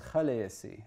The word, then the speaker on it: Khaleesi: And so the proper pronunciation is Khaleesi.